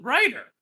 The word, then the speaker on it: writer: The writer. Writer is spelled with a W. Ugh, so many differences from our different lands. Silent W's and all that.